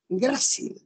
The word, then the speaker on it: grácil: Y la palabra no es grácil, es grácil. ¿Ya? ¿La palabra cuál es? Grácil con tilde en la A.